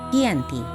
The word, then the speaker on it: Giyanti: Dalam pelafalan Belanda, ia tersebut sebagai Giyanti, dan secara tertulis ia terbaca sebagai Giyanti.